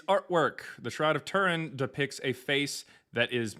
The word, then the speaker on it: Turin: The Shroud of Turan, not Tahoot, is And it's artwork from the 1300s.